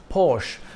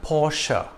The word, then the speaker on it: Porsche: cars SUVs and sedans it's not pronounced Porsche but Porsche this brand got its